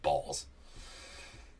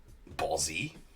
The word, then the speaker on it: Balls: I mean, I don't know how else to pronounce that other than just straight up balls. Ballsy? Balls. That's it. Don't church it up. Don't church it up trying to add the Z at the end to make it all fancy.